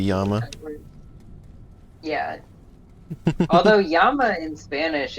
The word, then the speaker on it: llama: l there's two l's this is like spanish pronunciation where two l's is a y sound they say that's that works right like llama is actually yama yeah although yama in